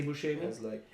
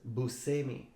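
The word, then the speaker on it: Buscemi: yeah right some people read Bushi and say Bushi yet he himself says Bui as an S pronounced as an S Bui oh that's that's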